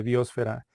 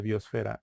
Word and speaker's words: biosfera: en que se pronuncia hay gente que dice biósfera que le pone acento en lado y hay otra gente que le dice biósfera da lo mismo lo